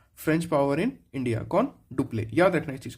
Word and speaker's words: Dupleix: याद रखना कि जो डुप्ले है ना, डुप्ले स्पेलिंग है डुप्ले, DUPLEIX, इसको बोलते हैं डुप्ले।